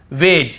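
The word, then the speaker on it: wedge: ये पढ़ रहे हैं फिर देखिए हेज और वेज यहां पर भी डी को हम नहीं पढ़ रहे हैं ब्रिज एज हेज और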